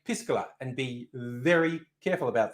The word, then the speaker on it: piscola: throw it out here careful how you pronounce it i'm being very careful to say piscola because i don't think you want to call your drink with cola piss cola not good marketing not good marketing is